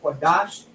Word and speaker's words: Qadash: We have a Kwa, a Da, and a Sha, Qadash.